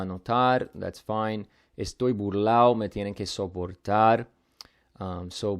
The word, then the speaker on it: burlao: So because of that, they're never really going to pronounce it like burlado anyway. So we can kind of just keep it as burlao because to even write it as burlado just looks weird.